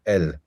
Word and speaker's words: al: which is where the the short a, can become pronounced like an e, so el.